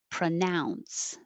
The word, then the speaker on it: pronounce: Number 14 is the verb pronounce, and the now is the stressed vowel, pronounce.